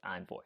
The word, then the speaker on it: Envoy: I sometimes pronounce it as Envoy, but it's actually pronounced as Envoy.